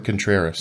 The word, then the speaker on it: Contreras: Jacob Martin Contreras. Contreras. Oh, that's it. I missed that R in there.